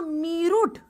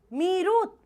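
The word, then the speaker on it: Meerut: तुमको प्रोनाउंसिएशन नहीं आ रहा। कोई बात नहीं। तुमने लिखा मेरूट। मेरुरट लिखा इंग्लिश में और हिंदी में कर दिया मेरठ। ये क्या बात? मेरुट। मीरुत वैसे तो इसको स्पेसिफिकली पढ़ोगे तो इट्स मीरुत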